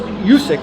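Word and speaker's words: Juszczyk: And you've got the other kid, Jusic, I think is how Kyle Jusic is how you say his name, from the 49ers.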